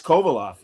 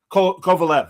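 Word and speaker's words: Korolev: But he is so great as Kovaleof and everything. Kovaleof. I Yeah, it's K O R O L E V. Kovalev.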